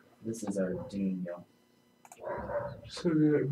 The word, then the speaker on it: Arduino: That was not actually how you pronounce it. That was Arduino, spelled ARDUINO. This is Arduino.